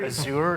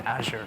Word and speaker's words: Azure: it first of all I hear is sewer and a sure everybody's a little different you you pronounce it the way you want as long as you have a credit card of it I'm okay with either but yeah it